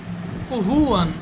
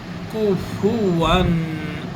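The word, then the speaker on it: كفوا: ইয়াকুল্লাহু কুহুয়ান আহাদ কুহু কুহু নয় কুফু কাফের পরে পা রয়েছে পেশ রয়েছে কাফের উপরেও পেশ ফার উপরেও পেশ এটা স্পষ্ট উচ্চারণে আসতে হবে কুফুয়ান আহাদ আহাদ নয় আহা হা আর হা আর হা ছোট হা বড় হা এখানে হলো বড় হা কুফুয়ান আহাদ কুফু আহাদ কুহুয়ান নয় কুহুয়ান পড়া যাবে না অর্থের পার্থক্য হয়ে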